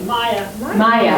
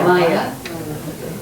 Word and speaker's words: Maja: Maya. Maya.